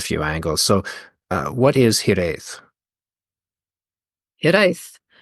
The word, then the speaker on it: hiraeth: So what is hiraeth? Hiraeth. It's a nice pronunciation, by the way.